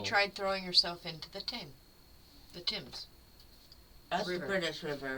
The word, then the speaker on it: Thames: And so then she tried throwing herself into the Thames. That's the British River, right? Yep. Okay. The one that's spelled like Thames, but pronounced like Tim.